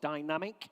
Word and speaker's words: Dynamique: Lot 72 is the 2002 Renault Avantime Dynamique. I think they pronounce it in France, or Dynamic, if you prefer, if you're English.